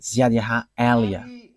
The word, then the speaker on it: YAHVAH Eliah: And that is not a Malagasy name, but that is the name from us, and that is my name, so I pronounce it as my father pronounced it, YAHVAH Eliah.